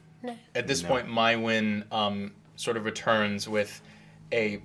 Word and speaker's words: Maiwenn: My win. My way. How do you spell that, darling?